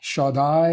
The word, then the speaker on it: Shaddai: Typically translated from Aramaic, once again, as Shaddai. Shaddai is the way that this is pronounced, and it literally means Almighty, or El Shaddai, meaning God Almighty.